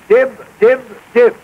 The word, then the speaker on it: DYB: you heard just now di di di it is spelled dyb D stands for do y stand for your b s for best do your best and when a pack